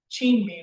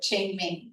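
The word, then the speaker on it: Qingming: Um, we have the uh the Chin Mean, right? That's how you say it. Chen mean Thank you.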